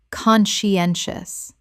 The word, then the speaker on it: conscientious: conscientious Four syllables with the stress on the third, meaning thorough and careful.